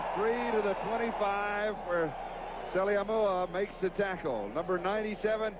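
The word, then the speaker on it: Saleaumua: 97 two fumble recovers salimua came to his chest in the locker room first he said here's how i pronounce my name sally moore run it all together he said mother is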